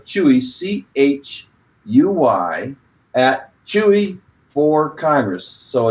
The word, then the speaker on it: Chuy: to one candidate this week I believe we pronounce his name Chuy Chuy Garcia he's running for Congress we want him